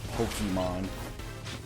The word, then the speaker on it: Pokémon: God, you have no idea how much I hate the word Pokemon. It's Pokemon. There's no E. There's no I there. There's no Y there.